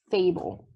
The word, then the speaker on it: fable: not sound it out here the e is absolutely silent so that word says fable okay we're going to